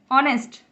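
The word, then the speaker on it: honest: ऑनेस्ट, आ रहा है ये, तो ये एच जो है साइलेंट होता है इसमें।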